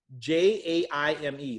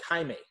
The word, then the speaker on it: Jaime: And Jaime is spelled a little differently, everybody. It's Jaime, like Jaime.